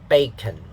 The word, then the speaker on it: bacon: noun and stress pattern the stress syllable is on the first syllable so the first syllable will have a higher pitch you should use da not the the second syllable is unstressed so it's it has a lower p lower pitch the darda okay bacon club